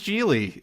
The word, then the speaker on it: Gigli: or leave it man that was jeely it's uh you know it rhymes with really as in really really